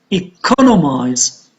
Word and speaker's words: economize: Economical, on the third syllable, and economize on the second syllable.